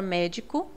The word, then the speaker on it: médico: Por exemplo, na palavra médico, o mé é a antepenúltima sílaba e é a mais forte.